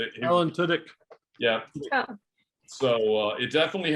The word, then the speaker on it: Tudyk: Tunick. Alan Tudyk.